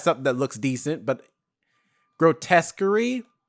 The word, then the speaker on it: Grotesquerie: recognize something that looks decent, but Grotesquerie, like it's spelled, it's like grotesque, the first part, and then query, which is Querie. I think that's how you pronounce it.